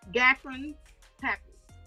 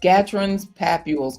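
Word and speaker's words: Gottron's papules: Gatron's papules. Gatron's papules.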